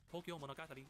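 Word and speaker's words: 東京物語: He is Tokyo story and to get pronounced Tokyo Monogati and Monogati respectively.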